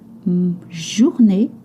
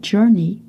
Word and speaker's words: journée: Because journée, not journey, journée, which means day, is a feminine word.